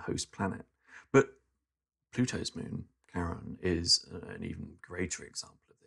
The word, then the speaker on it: Charon: Pluto and its moon Charon. And I think it is pronounced Charon. I always used to think Charon, but I think Bob corrected me once. Bob Berman corrected me once, said it's Charon.